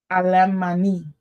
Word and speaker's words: Alemanni: No, let me pronounce that again good. Alemanni. That's it.